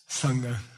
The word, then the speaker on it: Sangha: Then once you reach that place, you join the club, and you are called Sangha.